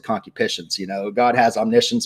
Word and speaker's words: concupiscence: bad cocky patients and concupiscence you know I'm sorry that's the way it's actually pronounced when I first learned